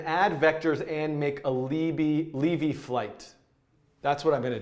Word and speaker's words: Lévy: I don't know if Lévy is the appropriate pronunciation because it's got the accent aigu, named for French mathematicians Paul Lévy, Paul Lévy, Benoit, who knows Benoit Mandelbrot?